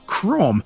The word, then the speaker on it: Crambe: Cram is spelled C R A M be E, which in any local dialect should be CRM. Apparently, some of the locals prefer to say this as Crom, which sounds a lot more sophisticated.